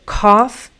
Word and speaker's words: cough: So cough is this ah sound. Rough, is this more relaxed central sound, rough.